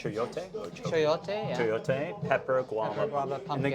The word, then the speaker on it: chayote: So even when I send a recipe out, so on the board, is it pronounced chayote? Chayote, yeah.